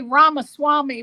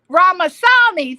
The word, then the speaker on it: Ramasamy: I want to say Ramaswamy, but I know it's not Ramaswamy. That's Vivek. Ramasamy. Thank you, executive producer.